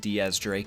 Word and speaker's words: X Drake: would be X drink because like I said it is actually pronounced Diaz Drake it means 10 Drake